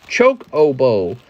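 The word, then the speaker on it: Chocobo: okay Jennifer Yap that's how you say it choke oboe that's how you say it bro it's called cocobo Jen Mister has the fat cocobo slab on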